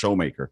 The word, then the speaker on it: Shoemaker: It's spelled Shoemaker, but it's pronounced Showmaker.